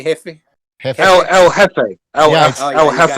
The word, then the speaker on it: Jefe: I asked him, El Jefe, I already knew he wouldn't know shit like that because What reference is that?